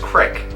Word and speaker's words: creek: It's pronounced crick. So ever since then, that's always stuck in my head that for some reason or another, like the thick southern accent pronounces creek, crick.